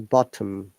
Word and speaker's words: bottom: no t but bottom in rp we pronounce t so it is bottom the bottom is correct